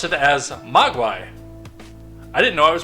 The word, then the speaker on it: Mogwai: And as you will see when we turn around, I know the Mogwai.